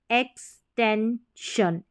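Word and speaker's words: extension: नहीं पढ़ेंगे शन इसका साउंड रहेगा जैसे compulsion एक्सटेंशन एक्सटेंशन एक्सपेंशन एक्सपेंशन मेंशन मेंशन सस्पेंशन सस्पेंशन तो यही तरीका है सारी की सारी स्पेलिंग्स बड़ी भी है जैसे हम प्रोनाउंस कर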